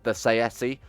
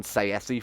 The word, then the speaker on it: Saesi: So that's actually how you pronounce it, by the way. I did look it up. The main developer said in an interview that he likes the pronunciation Saesi for them.